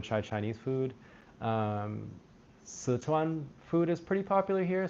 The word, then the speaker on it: Sichuan: Szechuan sauce. That's the English pronunciation of Sichuan.